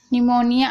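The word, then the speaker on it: pneumonia: अब देखिए यूमोनिया, निमोनिया, आप देख रहे हैं यहाँ पर पी साइलेंट है, तो यहाँ पर ठीक है।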